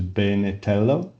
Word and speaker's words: Benello: Um so uh let's start by uh pronouncing my surname correctly which is Benello and and